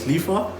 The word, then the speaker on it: Lifa: A lot of you might know me as Lifa. That's what I go by. It's easier on the tongue. It rhymes with FIFA.